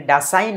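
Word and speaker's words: Dashain: বছর জুড়ে উদযাপিত হয়্যা এখানে দশাইন আমরা এখানে ডাসাইন উচ্চারণ করব কিন্তু বাংলায় বলব দশাইন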